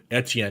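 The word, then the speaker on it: Etienne: Or Etien. Who's Achan? Sorry, Travis Achan.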